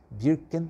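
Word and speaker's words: Birkenau: Eh birken o outro birken agora sim a pronúncia certa birken h e a Simone weisel que é também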